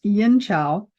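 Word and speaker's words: Yin Qiao: Now, the formula that goes with Ganmaling sometimes is yin chow, and it can be spelled QIAO or CHIAO. Sometimes chi is spelled QI, and sometimes chi is CHI, but it's yin chow.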